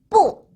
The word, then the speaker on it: 不: BU 부가 되겠죠. 사성이니까 내리꽂아요. 태권도 기합소리 야. 뿌.